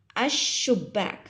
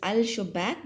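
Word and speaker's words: الشباك: The lam will join with the next, and the lam will get cut. You will not pronounce the lam, but you will pronounce the alif and the next alphabet. Like, just listen to me. Ash-shubbak. So actually it is al-shubbak, but you have to say as ash-shubbak.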